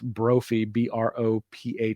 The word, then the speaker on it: Brophy: His name is spelled a couple of different ways, Brothy, but I think it's Brophy, Brophy.